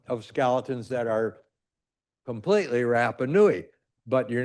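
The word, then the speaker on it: Rapa Nui: And there's controversy about this because oh we're doing the DNA of these allegedly Rapanuans or Rapanoui is the proper way to say it.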